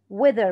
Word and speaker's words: weather: الاس هنا silent island weather بطلع لساني وأنا بنطق حرف الذه weather around canal thief